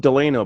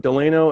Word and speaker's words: Delano: It's I always pronounce it Delano, but Delano, and it's the Aviator Casino, I believe, right?